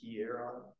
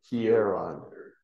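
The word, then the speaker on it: ἱερόν: And the next one, hieron. Yes. Hieron. Hieron. Yeah, hieron. Yeah. Hieron. Because you'd have to emphasize the omicron there.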